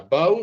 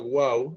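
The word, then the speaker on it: וו: hebreo moderno y la Wau en el hebreo bíblico. Entonces esto hoy en día se pronunciaría más como una V, pero en el hebreo bíblico se pronunciaba más como una W, como una Wau.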